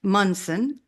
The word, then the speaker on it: Munson: to add anything well my name is pronounced mson and um if anyone